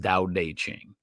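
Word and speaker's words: Tao Te Ching: But it's pronounced Dao Deq Ching.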